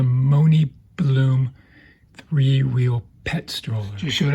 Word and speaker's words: MoNibloom: It's I believe it's pronounced the Mooney Bloom threewheel pet stroller.